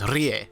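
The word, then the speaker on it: R'lyeh: But you gotta roll the tongue, so it's Rie. I remember now. Rie. This amulet is engraved with the Elder Sign. Drake calls it the Key of Rie.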